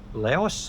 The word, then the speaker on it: Laos: That's the antion capital city of Laos or Lao depending on how you pronounce it where you're from.